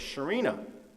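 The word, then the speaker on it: Chireno: town of Chino Texas although pronounced locally as Sharina and I went in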